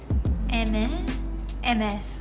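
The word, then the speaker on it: Hermès: How to pronounce Hermes? MS.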